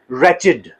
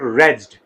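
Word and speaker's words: wretched: जब इस मीनिंग में ये यूज़ होता है, इट is pronounced as रेचिड, नॉट रेड्ड, रेिड, रेचिड।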